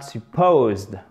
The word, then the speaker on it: supposed: L'accentuation, l'accent tonique, elle se fait ici, c'est-à-dire que cette syllabe est accentuée, elle est un peu plus longue et un peu plus haute, un peu plus forte en termes d'intensité. Supposed, ok?